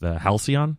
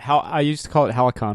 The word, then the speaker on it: Halcyon: had his revelation with Halcyon. Was that? Yeah, I used to call it Halicon all the time. Which makes sense. Yeah, I didn't know it was a soft C.